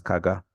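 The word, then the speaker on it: CAGR: use this word so often in finance it's pronounced as kaga compounded annual growth rate so for example you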